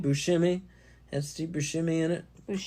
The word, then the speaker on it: Buscemi: his name is Steve Buscemi Buscemi and Steve Buscemi in it shimmy no you're saying shimmy like shimmy it's shemi shimmy okay yeah you